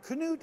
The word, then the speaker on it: Knute: to be here now Knute is the proper pronunciation of your name and your grandfather's name right yes it is it's the Norwegian what's it like to